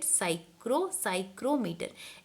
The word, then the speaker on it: psychrometer: Okay, P over there is silent, so you have to pronounce it psychrometer.